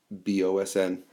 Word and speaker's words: boatswain: um it looks like the word boatswain it's pronounced in the text as bazin bosn the boson would be responsible for uh the crew on